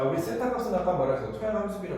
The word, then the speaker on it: 세타: 부피는 V 몰륨을 얘기하는 거 토양의 총부피로 나눈 것을 토양 함수비라고 하고 이걸 세타라고 읽습니다. 세타. 세타라고 읽어요. 자, 에타도 알고 이제 세타도 알아요.